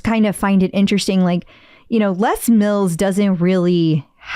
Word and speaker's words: Les Mills: Is this Les Mills or Les Mills? Les Mills. I don't know. I was going to say Les Mills. And then I was like, maybe I'm saying it right. Who knows? It's Les Mills.